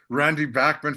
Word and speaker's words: Bachman: I've heard it's pronounced a few different ways, but Randy Bachman from Bachman Turner Overdrive, I've heard you say before.